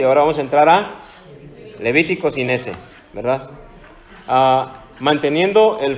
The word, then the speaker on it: Levítico: que comenzamos la semana pasada y ya entramos al libro de Levíticos. ¿Se acuerdan? No se dice Levíticos, ¿cómo se dice?